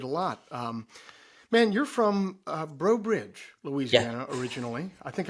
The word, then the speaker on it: Breaux Bridge: Man, you're from Breaux Bridge, Yeah, Louisiana, originally. I think I got that pronunciation correct.